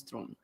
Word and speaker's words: Theron: it's the simplest but it's the real pronunciation pronunciation of my last name is throne which is really hard throne throne game of thrones french guy can't say